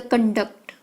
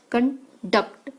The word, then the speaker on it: conduct: The conduct, emphasize on the first syllable. Con is the noun meaning a standard of behavior, while the conduct, stress on a duct, conduct, emphasize on the second syllable, is the verb.